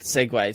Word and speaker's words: segue: This did you know? Yeah, like the segue of conversation. Isn't it SEGWAY? No, SEGUE apparently.